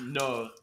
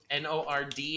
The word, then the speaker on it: nord: in french north is no n-o-r-d and the d is silent because french is the worst language on the planet and all the consonants